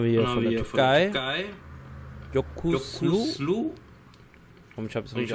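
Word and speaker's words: Yokuşlu: Jokuslu. Und ich habe es richtig ausgesprochen. Jokuslu.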